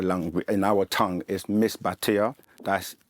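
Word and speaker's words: Misbatiya: known by many names um the way we pronounce it in our langu in our tongue is miss batia that m i s b a t i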